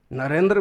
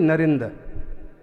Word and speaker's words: नरेंद्र: बहुत सारे शब्द है नरेंद्र मोदी भी है ना इस शब्द का उच्चारण देसी भाषा में या उनकी मां यही उच्चारण करेगी नरेंद्र आखिरी के रा का उपयोग नहीं होगा अभी भी लोग बो